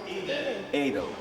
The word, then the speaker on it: Edel: Edel, like Edelweiss, right?